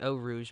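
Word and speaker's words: Eau Rouge: oh Rouge oh Rouge L Rouge however you want to say it I know it's actually o Rouge but let's be real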